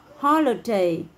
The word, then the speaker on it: holiday: Và từ holiday, holiday, holiday. Âm o mình không đọc là ai nhé. Mình đang đọc là holiday, holiday, holiday.